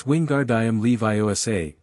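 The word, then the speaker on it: Leviosa: I am Leviioa, not Leosa."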